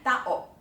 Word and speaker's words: tao: Nonetheless, Filipinos all know that táo is two syllables and will not read it as táo That would be wrong. It’s tá-o.